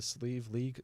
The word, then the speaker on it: Slieve League: It's actually pronounced the Slieve League Cliffs.